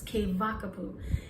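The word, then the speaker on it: Keawakapu: uh k k vakapu if you see a w here in Maui or in Hawaii it's pronounced with a V so it's k k wa but it's que vakapu and so um we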